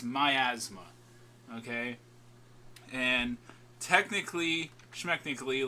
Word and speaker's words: Miasma: new to the channel, why is your name Miasma? And that is how it's pronounced, everyone. Miasma.